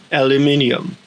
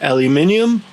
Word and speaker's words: aluminium: In the United Kingdom and Australia, it's pronounced aluminium, but in the United States and Canada, it's aluminum.